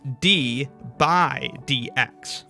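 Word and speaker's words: d/dx: all by itself and we could read it like that D over DX but often times people will read it as d by DX think of it like the fraction representing division by that's where this pronunciation kind of comes from d by DX but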